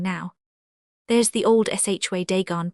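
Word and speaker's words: Dagon: Deegon pronounced dagen not like the guard in the scriptures, said my companion confound it.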